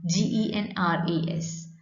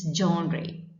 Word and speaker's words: genre: so professional and then another word is here g-e-n-r-e-s do you did you notice the pronunciation pronunciation is genre that word is called genre g in res it means the different types